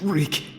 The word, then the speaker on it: Reek: I swear my name is Reek. It rhymes with leak.